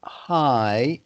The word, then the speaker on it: high: Not high, it's just pronounced high, even though there's a letter G and H at the end, it's silent.